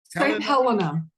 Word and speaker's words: St. Helena: How you pronounce it? Helena? St. Helena.